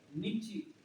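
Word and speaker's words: Nietzsche: इसका प्रोनाउंसिएशन कैसा होता है? नीची.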